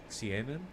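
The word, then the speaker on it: Seinen: here in terms of appealing to an older Cen Cen that's how it's pronounced not sign up Overlord is pretty big Overlord is degenerate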